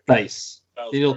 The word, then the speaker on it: Theis: was a good Daniel Thies. Daniel How do you say Theis. it? Daniel Thies wouldn't have been Theis, sorry. Theis.